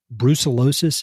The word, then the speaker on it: brucellosis: because of a fear of, is it called brucellosis? Is that how you pronounce it?